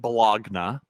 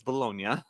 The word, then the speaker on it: Bologna: So in a little place called Bologna, Italy, and yeah, it's spelt like Bologna, but it's Bologna.